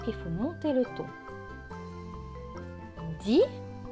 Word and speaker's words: dit: Di, le T ici ne se prononce pas puisqu'il est écrit en gris.